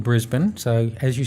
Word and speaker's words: Brisbane: I should know yes you call it Brisbane Brisbane a lot of Americans say Brisbane okay and Mel Bayne haha 80ml born yeah it is Brisbane and Melbourne Melbourne yeah we got it